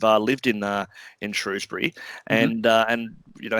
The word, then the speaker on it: Shrewsbury: mush routes for your show story so it's Shrewsbury and Phil it's been writing for us for